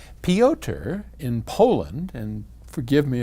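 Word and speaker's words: Piotr: peoter in poland and forgive me if i have butchered your name i assume it's some version of peter it's p-i-o-t-r-pyoter anyway he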